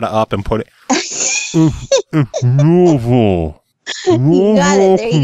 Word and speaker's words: Louisville: It's kind of like when people say Louisville or Louisville, and it's Louisville.